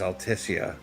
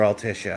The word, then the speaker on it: Altissia: But we're about to see the beauty that is Altissia or Altishia. I I noticed the pronunciation of the of the city's name goes back and forth in this game.